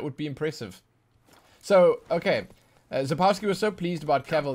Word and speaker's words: Sapkowski: Oh, it's pronounced Sapkowski. Oh, it's Sapkowski, not Sapkowski.